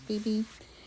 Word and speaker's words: Phoebe: This is a eastern Phoebe, although I I would have pronounced it phobe, but I guess it's actually pronounced Phoebe.